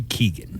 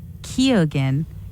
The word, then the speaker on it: Keoghan: So I pronounce it Barry Keoghan.